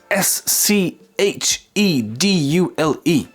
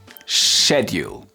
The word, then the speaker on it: schedule: So, British English schedule. Schedule. All right. Yeah, I know. I know. I have I know it it doesn't sound right. Schedule in American English.